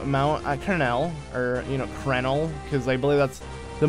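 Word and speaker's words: Crenel: way up to Mount Kernel, or, you know, Krenel, because I believe that's the more proper way to pronounce it, but I like saying Kernel.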